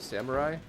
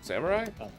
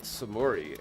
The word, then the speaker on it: samurai: of samurai is it samurai oh because i've i heard years ago somebody pronounced it samori and i'm like there's no way that's right there's no way but